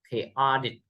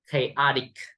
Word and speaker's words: chaotic: Returning home after the earthquake, Simon saw that his house was extremely chaotic. Chaotic. Chaotic. Remember, chaotic. Okay. The master is on the second syllable.